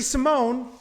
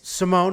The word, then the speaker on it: Simon: tough teamer valuev and ricky simone it's simone it's not simon i listen i've i've